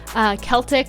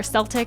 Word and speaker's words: Celtic: a small little pinch of Celtic or Seltic, however you want to pronounce it, Celtic sea salt cuz it has minerals in it.